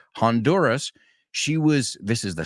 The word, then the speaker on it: Honduras: uh in Honduras actually Honduras we pronounce the h Honduras she was this is